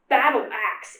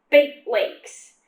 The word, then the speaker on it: Baitelakes: "It's not pronounced Battleaxe, it's pronounced Bait Lakes. Rhymes with Great Lakes."